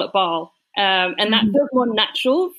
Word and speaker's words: Bâle: Now, when you you pronounced it Bâle, because that's the French pronunciation, I think most English speakers probably pronounce it Basel.